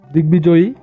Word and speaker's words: দিগ্বিজয়ী: নিয়ম 5 আমরা বলতে পারি কোনো শব্দে সন্ধিসূত্রে আগত গ এর সাথে ব ফলা যুক্ত হলে ব এর উচ্চারণ স্বাভাবিক হয়, অর্থাৎ ব উচ্চারিত হয়।